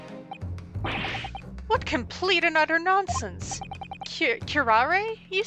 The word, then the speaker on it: curare: They emphasize that last little bit. Even the slightest amount of this deadly poison entering the body leads to instant death. Objection! What complete and utter nonsense! Curare, you say?